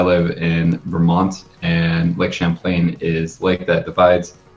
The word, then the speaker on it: Champlain: logo change, the Lake Champlain, however you want to pronounce it, because I don't know, Lapras. So it's Lake Champlain.